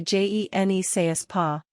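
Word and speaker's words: je ne sais quoi: Pronounce it as juh-nuh-say-kwa or juh-nuh-say-kwa. To pronounce the j like shu, shape your mouth like you are beginning to shush someone, but carry on the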